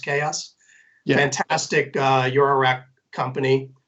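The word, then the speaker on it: XAOC: AOC is the way it's spelled but it's pronounced chaos the antastic your Iraq company and of course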